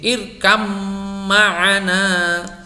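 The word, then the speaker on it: ارْكَبْ مَعَنَا: hanya ada satu, yaitu irkab ma'ana. Ini dibaca menjadi irkam ma'ana. Jadi mutajanisain itu satu mahrot tetapi dia beda sifat. Jadi disebut dengan satu jenis, satu mahrot tapi beda sifat. Ini membacanya irkam ma'ana, begitu.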